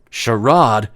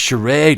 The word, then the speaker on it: charade: all a sherad sir sherad it's pronounced charade man Channing Tatum scoffed